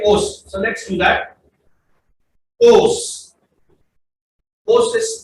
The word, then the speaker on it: Oss: Os. Oss is spelled as OSS.